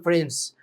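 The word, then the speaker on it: friends: لو قلت يور فرينز دي سايلنت في كلمه فريند ما بقولش فريندس فريندس ده غلط المفروض اقول فرينز بتنطق دي سايلنت زي كلمه ا حاجات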